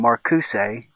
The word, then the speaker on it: Marcuse: Herbie the Pervert, the sack of refuse, or I guess I should pronounce it Refuse, because you pronounce his name Marcuse.